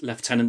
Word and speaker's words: lieutenant: By the way, I pronounce Lieutenant the British way, not the wrong way.